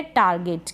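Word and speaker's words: target: मतलब पाना give give मतलब देना यह है टारगेट क्या है टारगेट टारगेट मतलब लक्ष्य और टुगेदर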